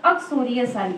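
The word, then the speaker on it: uxoricide: बच्चों, इसका प्रोनाउंसिएशन देख लीजिएगा, अक्सोरियोसाइड होता है।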